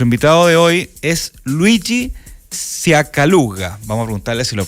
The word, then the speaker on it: Sciaccaluga: Ciacaluga, ¿estaba bien pronunciado, no? Ciacaluga. Ciacaluga. Ya, o sea, hay que poner el acento. ¿Ah? Ciacaluga.